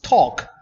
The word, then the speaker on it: talk: but it's not pronounced also when you pronounce talk and walk you don't pronounce it and this appears